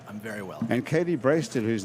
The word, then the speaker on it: Brasted: B-R-A-S-T-E-D. right. It looks like Brasted. Brasted. That's what I Doesn't usually it? get. Brasted. Like blasted. It's like the sort of wrong pronunciation of blasted.